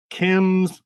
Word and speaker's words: Kyms: And that is spelled Kyms Collectibles. So KYMS Collectibles, plural, just the way it sounds, all one word, no dots, no underscores or any of that.